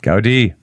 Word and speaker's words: Gaudí: We're going to talk more about Sagrada Familia and Gaudí. Is that how you pronounce it? Gaudí.